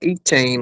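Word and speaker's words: Etienne: You got well, that's not how to say it. It's called E-Chain or something like that. We say Travis E-Chain. Echan, and we have Trevor Echan.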